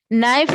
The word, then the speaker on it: knife: Knife. K is silent.